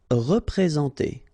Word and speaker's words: représenter: Représenter. All right, remember that you get this N together, and then, well, it's a nasal, so it goes in your nose, and it's en.